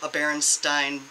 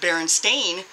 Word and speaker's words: Berenstain: because of the stupid Berenstain, but I was explaining to her why it was pronounced the way it was because of the EI and IE. Whichever one is second is the one you pronounce.